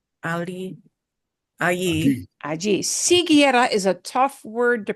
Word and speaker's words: siguiera: You don't normally see that many vowels together in Spanish, but siguiera, that U is silent. It's one of the few times that a vowel goes silent.